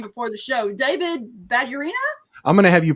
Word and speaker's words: Badurina: to pronounce your name before the show, David Badurina? I'm going to have you pronounce it backwards because of my screen and see if you can figure that one out.